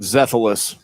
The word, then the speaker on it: Xethalis: His last name is spelled like this. You tell me how you'd say it. Xethalis. Zethalis. Constantine Zethalis.